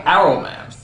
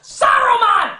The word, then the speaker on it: Saruman: is for some reason they stopped pronouncing the S and simply call him Arrowman. Why? Is the S suddenly a bad word? Only because Aruman is kind. It should have been his friend Aruman. How long since Aruman? Saruman. Saruman, you idiot! It's pronounced Saruman! The S isn't silent!